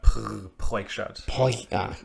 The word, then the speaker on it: Proyschart: Ideally, if you are able to, you roll the R like the back of the throat. That Proyschart.